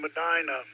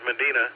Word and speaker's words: Medina: Um from Madina, Madina, Ohio. Over. Very good, Fred. Uh in Ohio, Madina. I think I've been pronouncing it incorrectly all this time as Medina, but maybe because uh we have a Medina,